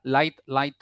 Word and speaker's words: light: Ya, jadi jangan like like. Ada G atau kayak ada K-nya. Jadi langsung saja light. L A T bacanya. That's the correct way how to pronounce it.